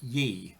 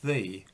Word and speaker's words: ye: odd it looked like ye rather than thee it was never actually pronounced ye of course anyway i thought that